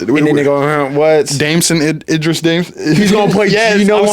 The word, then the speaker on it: Damson Idris: Yeah, Damson Idris.